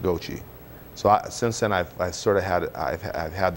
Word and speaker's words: Gauthier: And I said, well, we pronounce it Gauthier. And I started to go through my explanation. Wait a minute. He said, I lived for 32 years next door to a lady, and she just passed away. Her name was Mary Louise Gauthier. She was from Paris, France. And she pronounced it Gauthier.